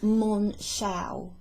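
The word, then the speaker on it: Monschau: um the Boulder area I think it's pronounced mon Chow m-o-n-c-h-a-u um s m-o-n-s-h-a-o-i-c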